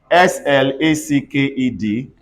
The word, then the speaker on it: slacked: in what situation everybody they can turn to T when Ed comes after k b s or F or or give me examples s l a c k e d everybody says slacked can